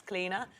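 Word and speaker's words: Clíodhna: It's Cleina.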